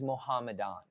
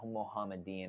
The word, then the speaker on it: Muhammadan: medan muhammadin or mohamed it is muhammadan it's muhammadan it's not muhammadin i'm pronouncing everything wrong